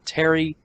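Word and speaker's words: Pterry: I named him Terry, but he's an Aerodactyl, and I named him Terry, and it's spelled P-T-E-R-R-Y.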